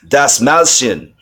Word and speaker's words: Dastmalchian: Yes, I pronounce his last name, Dastmalchian.